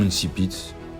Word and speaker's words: incipit: pite ou alors inkipit ça se prononce comme vous le voulez mais savez-vous vraiment ce que veut dire ce mot le nom insipit du verbe latin insipè